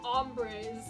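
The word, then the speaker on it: hombre: breze yeah that's how H in the beginning is silent Ryan ombr ombre do you not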